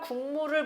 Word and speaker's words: 국물: 자, 그 다음 국물을 봅시다. 자, 일단 얘는 기역 받침이 있어요. 자, 이것이 미음 앞에서, 자, 미음 앞에서 뭘로 발음이 된다? 이응으로 발음이 된다라고 했습니다. 여기 이응으로 발음됐네?